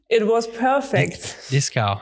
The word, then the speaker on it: Dieskau: And today we are joined with Dieskau. hello. Hello. Did I pronounce it right? It was perfect. Dieskau. I try my best German accent.